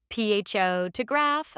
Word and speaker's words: photograph: Emphasizing the wrong syllable in a word can make it unrecognizable. PHO to graph versus photographer.